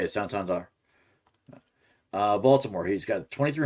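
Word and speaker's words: Santander: him this guy probably could have been Anthony santandar and that's how you say it sandar uh Baltimore he's got 23 home runs most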